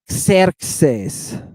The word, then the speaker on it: Xerxes: Xerxes. Xerxes. That's a capital X on the front, and that is a lowercase X in the middle. Xer. Xes. It's 2 syllables.